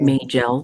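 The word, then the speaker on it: Majel: further uh you know magill and some people pronounce it may gel there are nine or ten different pronunciations of that name but she said uh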